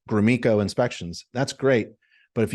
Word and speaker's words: Gromicko: There's no E in it, but I pronounce it Gromicko.